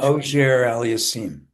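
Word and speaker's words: Auger-Aliassime: Um, how do you pronounce what's the correct correct French? Ojer aliasim.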